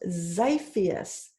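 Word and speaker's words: Xiphias: oops we found one x is for zyphus pronounced Zacchaeus this is the scientific name for swordfish yeah yeah yeah is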